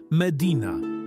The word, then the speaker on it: Medina: Słowo Medina wymawia się jako Medina z akcentem na i.